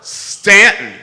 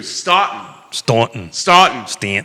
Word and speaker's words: Staunton: Carol Thorpe, Stanton, pronounced with the U, Staunton.